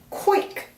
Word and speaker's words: quick: quick 그러니까 quick를 이렇게 연결하는 거죠. quick 이렇게요. 그래서 quickly 이렇게 발음하시면 돼요.